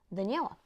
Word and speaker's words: Daniela: This is how I'm pronouncing Daniela, to be honest. So Daniela. Yeah. If I'm not pronouncing it correctly or according to you, that's how I'm pronouncing it in Bulgarian.